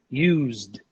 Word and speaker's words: used: The last sound, z. There's a vibration here. So this sound is voiced, okay? We should pronounce it as a D. Repeat after me. Used.